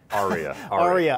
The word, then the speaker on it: Ariya: Ariya.